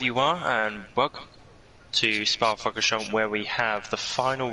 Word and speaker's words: Spa-Francorchamps: But we're here tonight at Spa-Francorchamps, that's how they say it, for the final round of the Ginetta Evolution Series.